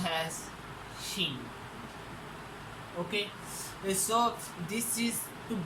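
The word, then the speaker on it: 心: It is pronounced as shin.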